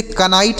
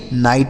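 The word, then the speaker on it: knight: भले ही यहां के लिखा है लेकिन यह के साइलेंट है। इसको नहीं पढ़ेंगे। तो इसे कनाइट नहीं नाइट ही पढ़ा जाएगा।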